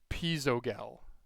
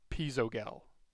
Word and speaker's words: Pizzogel: I messaged him on his name pronunciation, and it was Pizzogel. Pizzogel. Pizzogel. Hard G. Sounds like the gazelle of gaming mouse.